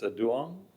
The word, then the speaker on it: Duong: It's Duong? Yes, that's correct.